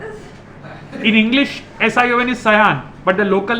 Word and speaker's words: Sion: It's written in English as S-I-O-N. Sayan. What is? In English, S-I-O-N is Sayan, but the local name you call it Shiv.